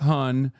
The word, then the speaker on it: hon: It's pronounced Hun, but it's spelled Han, Hon, and it's like hun like hun?